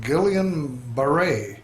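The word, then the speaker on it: Guillain-Barré: It was something called Guillian Barre.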